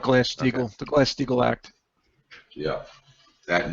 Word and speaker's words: Glass-Steagall: Wait, I pronounced that wrong, didn't I? Oh well. No, that's correct. No. Glass-Steagall, the Glass-Steagall Act.